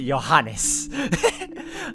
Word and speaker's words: Johannes: it through the end i was right to pronounce it johannes i've been thinking with johannes because that's how they pronounce that first it's johannes i was right good